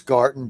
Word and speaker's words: Garten: We're with Majority Leader of the State Senate of Indiana, Chris Garten, G-A-R-T, as in Tom, E-N, but pronounced like Garden, and he's with us.